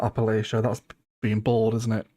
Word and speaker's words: Appalachia: Appalachia. Appalachian. Yeah, that's right. Yeah. Okay. I think I pronounced Alipian last time, didn't I? It's not Alipcia.